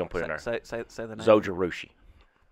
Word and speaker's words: Zojirushi: it worked for span all right don't recommend Zojirushi what stainless steel water bottles a water bottle or coffee whatever you want to put in there soldier rushi how do you spell that z o j